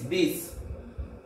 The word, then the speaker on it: dix: NEUF NAF 9 NEUF NAF and 10 DIX this.